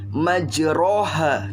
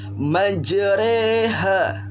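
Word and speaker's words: مجريها: ke dalam huruf e jadi bacanya bukan majroha tapi majreha ya majeure majreha roknya berubah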